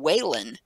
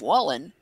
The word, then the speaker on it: Wallen: And I get people that pronounce my last name Whalen instead of Wallen because there's a Whalen Boulevard here in Dayton. This would be a stupid thing to get pissed off about. I'll tell them, hey, oh no, it's Wallen.